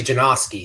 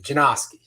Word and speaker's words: Janoski: Let's bring in Janoski. What's going on, big man? How's it going, man? Hey. So my last name's actually Janoski. No Janoski. No W. Janoski.